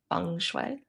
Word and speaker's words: feng shui: Uh an easy way of saying it is fune and the way you can remember that is by saying it's like a fun way to work with Jane fune.